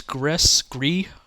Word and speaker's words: Gris: um, Now here's Gris. I think it's Gris is how you say it in French or Spanish. I think Gris is how you say it in Spanish.